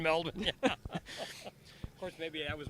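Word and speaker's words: Melbourne: you should do that PK confirms that my pronunciation of melbour is correct melbour it's down there for four weeks nobody ever pronounced in melin of course maybe I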